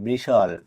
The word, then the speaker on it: bristle: BRISTLE বৃষল। এই ওয়ার্ডটিতে টি এর আগে এস এবং টি এর পরে এল থাকার কারণে টি লেটারটি সাইলেন্ট আছে।